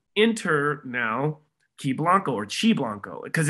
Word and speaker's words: Qi Blanco: my brain so enter now key blanco or chi blanco because it's spelled q-i-b-l-a-n-c-o for those that are just listening it looks like it would be pronounced ki blanco but in the uh in the eastern eastern